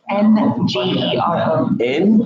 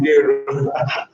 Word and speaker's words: Ngero: Then the surname is Ngero. N for November, G for golf, ERO. And it's pronounced Ngero.